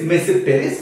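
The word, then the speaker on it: Tmesipteris: Okay, now other genera, of course, other than Psilotum, okay, the other genera which we have involve mesipteris. Okay, the T is silent here, it is mesipteris.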